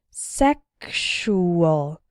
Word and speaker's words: sexual: in the word sexual the X sounds like ksh sexual and in luxury and